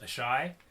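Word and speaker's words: Asshai: Maybe to I think it's pronounced Ashai, which is where Melisandre's from, the Red Priests are mostly from.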